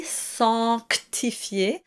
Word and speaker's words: sanctifier: And it's very important to pronounce that C sanctifier and in offense or offenser.